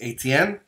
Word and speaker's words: Estienne: which I want to say it correctly, it's Etienne. Estienne.